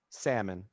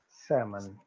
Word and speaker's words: salmon: for selma or salmon salmon salmon so it's like sam and sam yeah lo it's that uh short a sound okay sam okay salmon